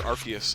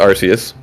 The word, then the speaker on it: Arceus: So, in my opinion, the way I interpreted that was Japanese, pronounced it Arceus, English, pronounced it Arceus, and that's where I landed on it.